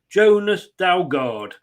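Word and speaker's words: Jonas Dalgaard: with me I hope I get this right Jonas dalgard good evening oh good afternoon good evening good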